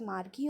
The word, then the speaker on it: Margie: Tommy Margie and Tommy Margie you can pronounce it as Marky also much I prefer calling her Margie now see Margie I